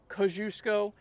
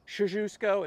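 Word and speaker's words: Kościuszko: Some people call it Kosciuszko. In Poland, it's Kosciuszko is how you pronounce his name.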